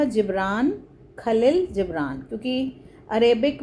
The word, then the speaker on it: Kahlil: इसका नाम लिखा है कहलील की जगह लिखा है खलील जिब्रान तो बच्चे इसके नेम के स्पेलिंग को लेकर बहुत कंफ्यूज होते हैं। तो मैं यह आज आपकी दुविधा दूर करती हूं। एक्चुअल में क्या था? यह खलील जिब्रान ही था।